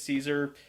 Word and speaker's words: Caesar: Even though we say it's Caesar, the Romans would most likely call it Kaiser. The C is pronounced like a hard K, and the AE would have been more like an I.